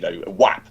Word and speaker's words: WAP: The acronym that me and Douglas, WAP. And it was great with that. WAP. Rhymes with Jap, yes, intentionally going.